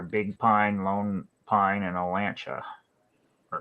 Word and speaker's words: Olancha: Nearest communities are Big Pine, Lone Pine, and Olancha. Or Lancha, I don't know how to say it, Olancha.